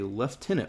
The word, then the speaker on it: lieutenant: Lindie is right that in British English we say lieutenant.